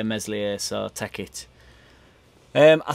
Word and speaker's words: Meslier: talk a bit about i've been learning some french so i'm now saying mellie i ain't really been learning french that's obviously a joke and i'm still going to say meslier so tech it um